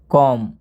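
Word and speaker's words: comb: ये जो बी है बी से पहले यदि एम आता है तो ये बी क्या हो जाता है साइलेंट हो जाता है यानी चुप हो जाता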